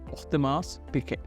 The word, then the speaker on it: Audemars Piguet: Or let me pronounce it, Audemars Piguet.